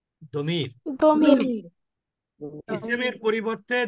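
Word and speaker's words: ضمير: কেউ কেউ এটাকে দমির। জমির বলে, জমিরও বলতে পারেন, সমস্যা নেই, কিন্তু উচ্চারণটা আসলে দমির হবে।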